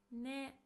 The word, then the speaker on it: ね: Ne. Just as yo, it's also put at the end of the sentence. It's pronounced as ne.